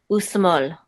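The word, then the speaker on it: ושמאל: You know not to pronounce the aleph here because there's no vowel associated with the aleph. Okay. Usmol.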